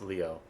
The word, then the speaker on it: Leo: It's written with a kanji for lion to be sure but it's pronounced Leo.